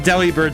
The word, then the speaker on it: Delibird: you mean I immediately understood I see now pronouncing Deli bird similarly to delivered Del bird yep see that's